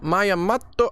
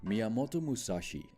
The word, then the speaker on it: Miyamoto Musashi: right sorry today we are checking out miyamoto mayamato i'm sorry if i'm butchering this sorry my